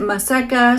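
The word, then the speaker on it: Maseca: Lastly, we have masika. If I'm pronouncing it right, some people pronounce it maseka, some say masika.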